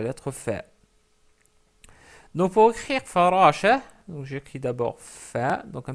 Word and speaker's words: فراشة: Ensuite, on rajoute le ta marbuta parce que c'est farashatun. Mais comme on s'arrête sur le mot, on dit farasha. On l'écrit, mais on ne la prononce pas.